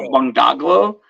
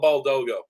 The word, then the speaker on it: Baldogo: And I came with Al, and I'll say Al's last name wrong, but Al Bungdaglo. He was a big retic breeder. Al Baldogo. Yes, thank you.